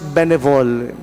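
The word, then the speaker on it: bénévole: benevol what is a benevol ano ngaung gustong sabihin ngayon father can benevol mga tugang ining tatara mo na ini the word is a French word it is pronounced benevol although ang spelling niya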